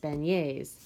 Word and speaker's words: beignet: eating in New Orleans they're called beignets pronounced beignets but this was not